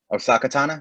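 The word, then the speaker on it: Ahsoka Tano: Osaka Tana, that's how you pronounce it, Hmm.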